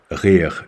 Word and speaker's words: rire: Rire. You see R plus a 3 plus an R.